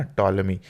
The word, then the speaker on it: टॉलमी: तो ये ध्यान में रखिएगा, बहुत ही इंपॉर्टेंट जो भी है एस्ट्रोनॉमर है वो, ठीक है ना, टॉलमी, पी साइलेंट रहता है इसमें, टॉलमी, है ना।